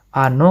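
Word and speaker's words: оно: Begitu juga dia dengan netral, dia ano, ano penekanan di o terakhir, ano.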